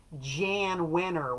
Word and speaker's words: Jan Wenner: Jan Wenner, note the pronunciation on that, Jan Wenner would be writing press